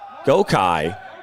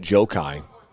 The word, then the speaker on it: Gokai: Michigan Stars, number 10, Gokai. And out for the first corner here of the night for either side. It's actually pronounced Jokai.